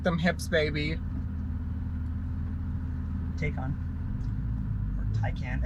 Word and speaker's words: Taycan: Taycan. Or Taycan. It's Taycan.